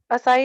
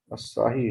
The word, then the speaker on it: Asahi: असाई India sir. Spelling बोलना जरा। हाँ, ASA ASA असाई सर, ASAHI India glass. असाही India glass.